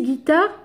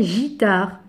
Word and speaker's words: guitare: pareil un U pour guitare ici guitare si j'enlève le U ça devient gitard donc on doit rajouter le U pour ça devient guitare et pour la cédille